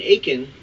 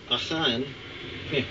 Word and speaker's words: Achan: So if I say it twice, once is like maybe in the Hebrew way and once might be in the English transformation way.